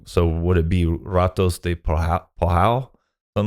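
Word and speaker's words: Ratos de Porão: And in a lot of situations, the R is pronounced like how we would pronounce an H, right?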